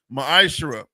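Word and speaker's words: מעשר: verses 8 through 10, means tenth in the Hebrew is pronounced ma'ashera.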